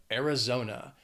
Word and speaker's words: Arizona: gorgeous then we have Arizona it has four syllables the stress is on that third syllable Arizona zo zo zo Arizona not much to say